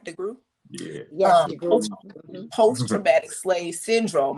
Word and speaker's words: DeGruy: DeGruy?